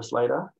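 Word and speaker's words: Slatter: one to start with and we've got angela slater um sl a double t er flat up but uh pronounced later she's um again a little bit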